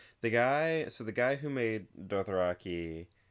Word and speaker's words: Dothraki: okay, it's Dothraki, but apparently George R. R. Martin pronounces the word Dothrakai. And like he's like, no one's gonna look at that word and read it that way, so for the show it's gonna be Dothraki.